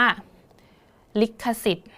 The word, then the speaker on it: ลิขสิทธิ์: ลิขสิทธิ์ ลิขสิทธิ์ นะ คะ อ่าน ถึง เสียง ท ทหาร นะ คะ อ่าน เท่า นี้ เลย นะ คะ พอ ธง กับ สระ อิ แล้ว ก็ ไม่ ต้อง อ่าน นะ คะ เพราะ ว่า ธนาคาร กำกับ เสียง เอา ไว้ มา ดู ที่ คำ